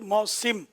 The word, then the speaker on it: موسم: موسم لفظ ہے, سین کے نیچے زیر ہے, جو آپ نے فرمایا ہے. اور موسم ہم لوگ عوام موسم ہی بولتے ہیں, لیکن صحیح تلفظ موسم.